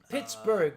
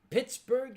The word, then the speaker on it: Pittsburgh: the H oh okay Pittsburgh is not German it's not Pittsburg okay no Pittsburg would be Swedish the name was given to it by a Scott the original pronunciation similar to Edinburgh was pitb huh Pittsburg